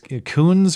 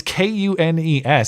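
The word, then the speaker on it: Kunes: just south of Milwaukee I don't know how you pronounce this Coons or coones Buick GMC it's ironic they I guess it is it is maybe maybe it just is racist I don't know you're right it's KU nees so I didn't I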